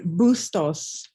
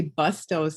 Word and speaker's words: Bustos: say your last name it's bustos you know people always want to say bustos and i'm like no but you know that's what it looks like yeah okay good good